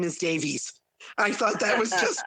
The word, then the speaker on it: Davies: And I pronounce it Davies now. Before I came to America, it was always Davis. But they always spell it IS when I just say Davis.